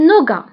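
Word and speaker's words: nougat: Un noga. محبوبة الجماهير. Un noga. Un noga. فبالنسبة للنوغا كنكتبوها بالتي في آخر الكلمة ولكن ما كنطقوهاش.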